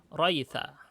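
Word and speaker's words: ريث: Jadi untuk kata raitsu ini aslinya raitsu tapi nanti jadi bacanya maaf, bukan raitsu tapi jadi raitha, maaf ya, salah. Raitha. Setelah saya cek raitha.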